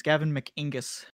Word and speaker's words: Gavin McInnes: So why are you saying his name wrong? It's Gavin McInnes. No? Yes. You got to say it like that to annoy him.